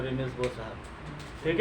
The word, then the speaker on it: Bohr's: बोहर्स भी बहुत लोग पढ़ता है, हमको कंफर्टेबल फील नहीं होता है बोहर्स पढ़ने में, ठीक है। एच हम उच्चारण नहीं करते हैं, प्रोनाउंसिएशन नहीं करते हैं, बोर्स पढ़ते हैं, ठीक है।